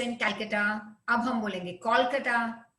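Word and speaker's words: Kolkata: तो वैसे कैलकाटा बोलते थे पहले, सी होता था, CALCUTTA, अब आ गया कोलकाता, क्योंकि वहां का ये प्रोनाउंसिएशन है।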